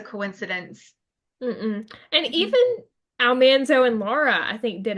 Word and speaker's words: Almanzo: It's not Almanzo, it's Almanzo.